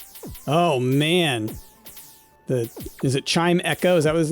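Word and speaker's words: Chimecho: Uh, like a chime. Chime echo.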